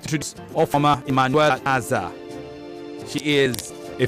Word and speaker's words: Ofoma: The surname is Ofoma. Ofoma. Exactly.